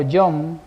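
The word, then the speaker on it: יום: Entonces, la palabra hebrea que se traduce como día en Génesis viene de una palabra que se escribe yom.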